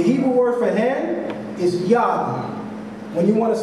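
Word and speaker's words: יד: say hand in Hebrew you say yah spell Y in Hebrew or if we're speaking English we would say y a d but the idea again is phonetically it's yah all right here's how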